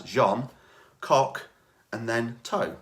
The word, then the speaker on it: Jean Cocteau: And I wrote it down to make sure I could pronounce it properly as Jean Cock and then Toe. C-O-C-K space T-O-E.